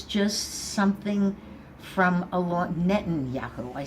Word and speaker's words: Netanyahu: with Trump it was somewhat superficial with with betanahu but it was just something from a lot Netanyahu I said it wrong anyway said it wrong